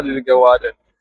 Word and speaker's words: Worden: I find it very difficult to pronounce this name. Warden. Warden Warden.